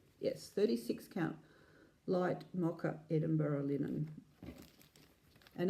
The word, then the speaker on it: Edinburgh: Light Mocha Edinburgh linen. And American guys, it's Edinburgh. It's not Edinburgh, it's Edinburgh. Just saying. That's how they pronounce it over there.